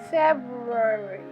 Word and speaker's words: February: Let me hear you say February. You don't have to do that to your mouth, but it is commonly mispronounced as February. When that happens, you miss out the R right here.